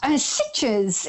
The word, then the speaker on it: Sitges: So tell us about Sitges, is that how you pronounce it? Sitges is where I used to live.